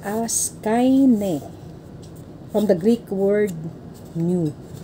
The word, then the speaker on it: Kaine: Pronounced as kaine.